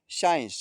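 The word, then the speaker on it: science: साइंस साइंस में देख लीजिए एस के बाद सी है लेकिन उसके बाद आई ई है तो यहां सी साइलेंट रहेगा।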